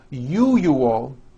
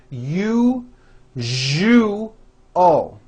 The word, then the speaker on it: usual: are very very common if you are someone that pronounces the word usual as you you all I'm telling you you are not being understood let me show you how to pronounce the word usual correctly break it up into three syllables you jus oh that second syllable jus the one with the underline needs to be voiced put your hand on